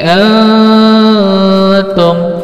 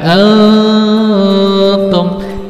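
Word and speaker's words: أنتم: Cara baca ikhfa gimana? Ikhfa itu diengkan ya, diengkan dan 3 harakat. Alladzi antum. Bukan antum, salah. Tapi diengkan antum dan diengkan dan panjang lagi 3 harakat.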